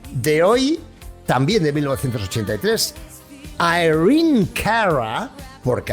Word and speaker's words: Irene Cara: El siguiente temón de hoy, también de 1983, Irene Cara, porque así es como se pronuncia correctamente en inglés, no Irene.